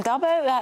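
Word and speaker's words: d'Abo: So this is Mariam Dabo. How do I pronounce Mariam it? Dabo.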